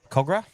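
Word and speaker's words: Kogarah: George Leagues Club in uh Cogra. Cogra, I believe. Yes, it is Cogra. And you even pronounced it properly, so that's great.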